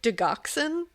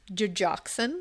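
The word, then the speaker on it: Digoxin: she tried to poison her with was, I pronounced it Doxen. Yeah, that's not how you say it. It's Dejoxin.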